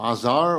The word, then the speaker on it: Azar: I am Azar, or Azar as it's pronounced here often.